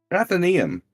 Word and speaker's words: Athenaeum: How do you pronounce that, Trey? Athenaeum.